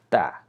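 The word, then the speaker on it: تاء: of ER or a so we don't say we say ta Okay so this sound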